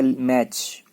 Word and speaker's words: match: फिर आ गया MATCH, मैच नहीं पढ़ना है, टी साइलेंट है, लिखा जाएगा टी से लेकिन पढ़ा जाएगा मैच।